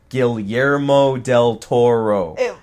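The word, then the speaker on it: Guillermo del Toro: when I'm talking fast gilero Del Toro it's Spanish right yeah GMO the the two L's would not be L's right right well point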